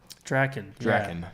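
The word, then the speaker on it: Drakken: How do you pronounce it? Draken.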